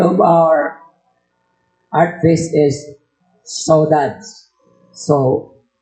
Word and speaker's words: saudade: So, the title of our art fest is Saudades. So, it's a French, Portuguese word. Kung basahin natin, saudade. Dami pronunciation. Saudade, saudade. Sa Amerikano, saudade sa atin. Saudade, saudades ang pronunciation.